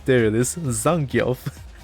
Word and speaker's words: Zangief: Zangief, there it is. Zangief. Zangief sounds so good though. I didn't know that's how it's supposed to be pronounced.